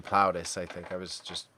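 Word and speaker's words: Plautus: uh Sophocles Aristotle Sophocles PL plaus platus however you want to pronounce it in Plato I'm pretty sure it's supposed to be plaus I think I was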